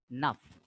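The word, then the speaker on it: neuf: Nuff, F is pronounced here because C, F, L ending are pronounced. So nuff, nuff.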